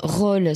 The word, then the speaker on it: Rol: Roll, ça s'écrit R-O-L.